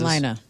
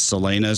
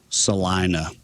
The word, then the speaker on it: Salina: Well, to be fair, literally everyone who sees the name of the town says Selena, so I think that maybe we say it wrong, but like it's our town, so we get to pick. So, yeah, it's uh Salina.